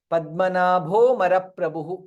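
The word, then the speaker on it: पद्मनाभोऽमरप्रभुः: You can ignore and chant Padmanabho Maraprabhu as though this is not there.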